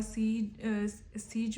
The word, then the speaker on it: Sejm: और सीज जो है ना इसके पार्लियामेंट का नाम है पोलैंड की, ठीक है। SEJM इसकी स्पेलिंग है, ठीक है।